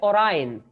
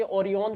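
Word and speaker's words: Orion: सकते हो, वो है ओरायन। इसको कई बच्चे ओरियन पढ़ेंगे, बट इसको एक्चुअल प्रोनाउंसिएशन इसका क्या है, this is called the ओरायन, ठीक है।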